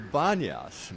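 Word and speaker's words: Banias: So the original name was Panyas, but the Arabs have a hard time pronouncing the P sound. So they changed it to Banyas, believe it or not.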